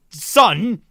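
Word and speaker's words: SSSN: motion coffee and seas son you know what i'm sticking with season sun is a stupid name for a team no you just have to pronounce it son just i'm just pronouncing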